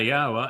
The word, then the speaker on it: Yahowah: yawa and proven that that is the correct pronunciation of the name and they wanted to to damn yada yawa and go off on their own little cult.